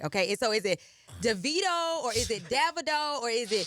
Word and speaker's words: Davido: So when they tell me his name, say it how you say it in my dialect, which is Davido. DaVido. No, Davido. DaVido. No, Vido. Hey.